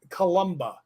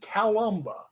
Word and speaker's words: Columba: I know better well our name is taken from St Columba not St calumba okay Columba I do